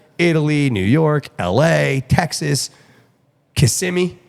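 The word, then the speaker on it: Kissimmee: New York la Texas KMI that's how you say it right I just learned how KMI KMI cool I was like kissim KMI I I say you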